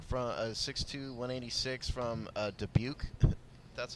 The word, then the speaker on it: Dubuque: Tyler Rutten back from a 6-2-186 from uh Dubuque that's how to pronounce that college Tyler ruttenbeck running back thank